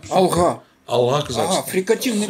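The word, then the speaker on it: Алға: Так как говорить правильно, как правильно, Алга Казахстан или Алха Казахстан? Ну, конечно, Алга. Алга. Алга.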